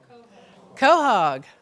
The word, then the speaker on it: quahog: And then we have the northern, how do you pronounce it? Quahog.